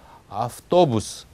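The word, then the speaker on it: автобус: 그래서 그 버스를 보시면 아프토부스 할 때 또는 분명히 발음이 나야 됩니다. 강세가 있으니까요. 근데 그 앞에 있는 아가 문제거든요. 그 아의 경우에는 아라고 분명히 하지 않고 아프토부스 하면서 아와 어 사이에 이렇게 중간 정도의 소리를 내도 충분하다는 말씀입니다.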